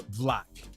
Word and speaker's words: BVLACK: I have a high-end brand called Black. You can pronounce it black or vlak because it's BVLACK.